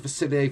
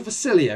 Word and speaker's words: Facilier: Facilier versus Jafar. The whole of that video, I actually called him Dr. Facilier instead of Facilier, and I did actually pick